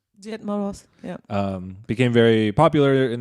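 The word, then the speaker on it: Дед Мороз: Died Moros. Died Moros.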